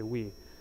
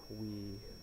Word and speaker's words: oui: So the user says, let's say they start speaking French randomly, so they say oui. Actually, that's not how you say it, oui.